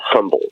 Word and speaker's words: HMBLDT: and definitely commercial, and they're called Humboldt. They're not called Humboldt like spelled like Humboldt County. It's HMBLDT.